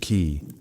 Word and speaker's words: qi: The invisible vital force called qi, pronounced ki, flowed through every living being.